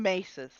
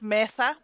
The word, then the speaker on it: mesa: ] like flat topped mountains everybody calls them maces um like they're pronounced Mesa and then you're calling it a table yeah I always call it a Messer yeah yeah Mesa which is Spanish for tablet when we're talking